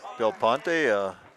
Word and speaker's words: Del Ponte: Okay, Del Ponte, junior, 6'4", 180. Yeah. Heard a parent in there saying that's the way it's pronounced.